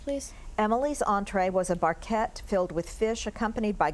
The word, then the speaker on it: barquette: Barquette. Barquette. Can I have the definition? A small boat-shaped pastry shell. Barquette. Barquette. Can I have the language of origin? This word is from a French word. Barquette.